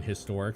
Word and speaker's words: historic: Apparently people didn't used to pronounce the H in historic, so N is old-timey correct. Sure, so they would say anhistoric.